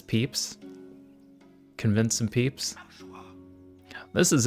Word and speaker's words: pips: I convinced some pips to follow me into the valley. Perhaps we pronounce the I as a strong E and refer to them as peeps.